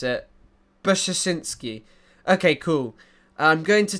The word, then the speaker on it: Brzezinski: Zbigniew Brzezinski would be the closest to how we pronounce it. Brzezinski.